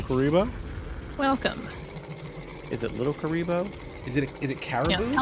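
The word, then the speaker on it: Kuriboh: thing from Yu-Gi-Oh so I read it as kuribo but it's k u r i b o h and then versus no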